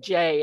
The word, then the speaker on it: Jai: So by staying grounded, that there is, your name is Jai, isn't it? I pronounce it Jay, actually.